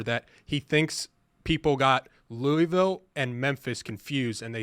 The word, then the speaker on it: Louisville: I can't figure out the disrespect the committee gave to Louisville, because in the final AP poll, I think you're pronouncing it wrong. I think it's Louisville.